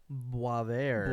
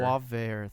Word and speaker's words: Boisvert: a channel called how do you want to pronounce it again? Boisvert. Boisvert.